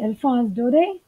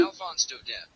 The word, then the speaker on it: Alphonse Daudet: Alphonse Daudet. So, Alphonse Daudet. So, this is a French word actually, and we must know the correct pronunciation.